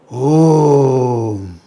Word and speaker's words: Om: The sound is a combination of three syllables. A, U and Say A, U, Have all of you said it? Or some felt shy and kept quiet? A, U, A plus U become O. And when is added, it becomes Om.